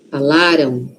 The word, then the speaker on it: falaram: Aqui a sílaba forte tá no lá. Falaram. Falaram. Aquele M ali. Tem som de o aqui, ó. Falaram. Tem, mas é um O muito suave. Por quê? Porque a sílaba forte tá antes, não está lá no M, tá aqui antes, ó.